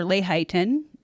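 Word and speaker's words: Lehighton: My friends and I went to a drive-in restaurant in Layton or Layhighton. That's Mindy speaking, one of the others, how it's pronounced, about 10 miles from my Summit Hill home in Carbon County for ice cream.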